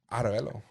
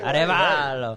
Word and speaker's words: Arevalo: Say like an Italian. Arevalo. Arevalo. Actually, that's a little better. That's a little better. Arevalo. Arevalo. Like how they say it back home.